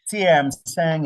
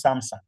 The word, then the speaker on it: Samsung: CM Sang electronics. I know we usually pronounce Samsung but personally I know it's pronounced as CM